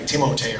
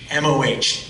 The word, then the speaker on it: Tahmoh: It always amazes me how People sometimes throw in an extra syllable, though. It's the strangest thing. I used to have teachers do that. They'd call me like Timote or something. Timote, Tumaha, Tumaha. What? Tahmoh.